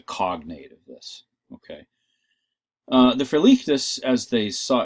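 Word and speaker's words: verligtes: The Verlichtes, as they saw, and I'm pronouncing it with the German accent at this point, Verlichtes, okay.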